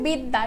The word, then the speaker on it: বিদ্যা: যেমন হচ্ছে বিদ্যা। ঠিক আছে? ওকে দেখো বিদ্যা লাস্টে যখন আমাদের জফলা রয়েছে তখন আমাদের এই জফলার কারণে দর উচ্চারণটা আমরা করছি দুইবার দত্ত মানে কি দুইবার দত্ত